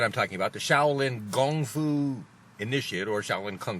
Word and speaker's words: gongfu: Chinese at the back Gong foo is the correct way to say and spell kung fu if you go to China and say kungfu because Americans but no that's not the proper way to say it anymore it's gone through gongfu